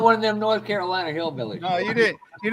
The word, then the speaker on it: Carolina: actually, listen, that's twice in a row right there, Brian, that he's Carolina. pronounced Carolina without an R.